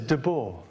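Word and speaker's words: Debord: do you pronounce the the name d-e-b-o-r-d de board that says dabo all right deadpool okay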